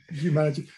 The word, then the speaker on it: Humanergy: And you got the pronunciation right. I was careful about that. Yeah, Humanergy.